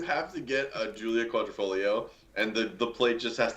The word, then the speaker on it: Quadrifoglio: We got the Giulia Quadrifoglio, but not the manual. Once again, you're right on the money. Julia. Wow, that was the worst pronunciation. Quadrifoglio? Yeah. The Julia Quattrofingero.